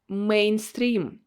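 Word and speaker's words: мейнстрим: what's written here mainstream mainstream here this letter here is sounds like a because it's a borrowed word and it happened this way with almost all borrowed words where you have a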